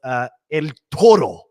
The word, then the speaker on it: El Toro: So this one was El Toro is the correct pronunciation for this one.